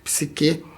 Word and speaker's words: psiquê: corpo PSI que é alma psique pronúncia correta PS psiquê e que é alma